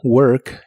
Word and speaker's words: work: Y usaremos el verbo work, que significa trabajar. Pero si hablas de una máquina, también puede significar funcionar. Mantén tu lengua retraída hacia atrás cuando pronuncies esta palabra y debe sonar como work.